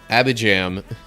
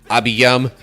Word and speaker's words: Abijam: Then his son, Abijam, became the next king. Wouldn't surprise me if that's actually like Abiyam, but I'm not fussing over pronunciations too much here.